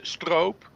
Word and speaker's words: stroop: you pronounce it because every time I hear people in the states pronounce it they say Stroop Waffle and I feel like that's totally wrong it is it is stroke um yeah stop because